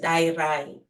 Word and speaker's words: Dayirai: Okay, so the actual pronunciation of my name is Dayirai. So the D sound is a quiet, a soft D. It's a Shona name originating in Zimbabwe.